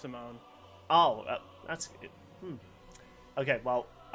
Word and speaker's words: Simon: yeah, it's spelled Simon, but it's pronounced Simone.